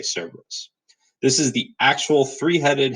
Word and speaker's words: Cerberus: back the hellhound severence you're using your Greek pronunciation that's usually more like kerberos on that's he actually had Wisconsin landing too but nowadays we tended to say Cerberus this is the actual